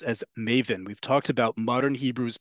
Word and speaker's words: maven: field of information right Maven comes from the Yiddish pronunciation of the Hebrew word mavin understands okay so even